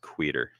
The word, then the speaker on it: Queter: It's not pronounced Quitter. It's pronounced Queter.